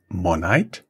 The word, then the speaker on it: Monite: being available in different markets where is you pronounce it monite yeah yeah where where are you guys available